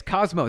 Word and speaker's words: Cosmo: Is it Cosmo Iradiance? Is that Wait. Iradiance. Cosmo Radiance. Cosmo. There we go.